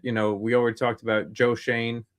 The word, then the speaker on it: Schoen: And you're looking at, we already talked about Joe Schoen, right?